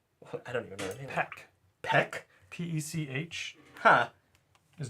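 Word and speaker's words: Pech: uh the name of the crew Homeworld is pronounced I don't even know that Peck p-e-c-h huh is not Pitch Perfect like your chest muscles I mean that's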